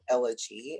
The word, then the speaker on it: Elegie: for sure i am elegy and it's actually um pronounced like g okay so my accent